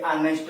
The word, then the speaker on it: honest: मतलब कुछ जो आपके शब्द होते हैं, नाउन होते हैं, उसके पहले एच लगा रहता है, लेकिन उसका उच्चारण जो शुरू होता है उसमें एच साइलेंट होता है।